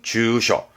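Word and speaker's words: 住所: 발음은 주셔.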